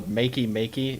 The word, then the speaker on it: Makey Makey: I think it's called the Makey Makey is how you say it.